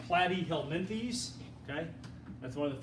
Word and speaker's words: Platyhelminthes: mean by flatworms belonging to the flop that's pronounced platyhelminthes okay that's one of the few words i